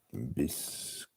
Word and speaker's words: biscuit: It's a biscuit. A little bit slow. I don't know what's wrong. Well, it's not. The French never pronounce the S anyways.